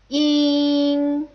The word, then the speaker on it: ing: The next front nasal final is ing, ing. This is definitely not pronounced like in English. It's probably more like the in scene. In, in.